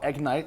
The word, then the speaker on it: Egnyte: Jane the CEO of a company called egnite spelled EG NT not IG n it why did you spell